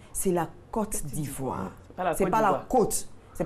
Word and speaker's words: Côte d'Ivoire: C'est la Côte d'Ivoire. La côte. La Côte d'Ivoire. Comme la côte d'Adam. Voilà, simplement. La Côte d'Ivoire. La Côte d'Ivoire. Et pas la côte.